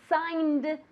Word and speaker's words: sign: I don't want to hear that G anywhere, okay? It's silent, totally silent. Really, we say sign as if it were S-A-I-N, sign, okay?